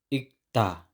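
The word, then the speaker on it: 읽다: consonant ay silent halimbawa ikta ikta hindi Il Il ang unang consonant ay silent ikta ikta next chom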